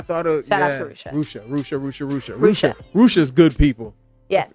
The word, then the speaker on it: Rushia: Rushia Brown. Rusha. Rusha. Yeah, don't say, because I said it wrong a few times with her, and she gave me the dagger look like Rusha.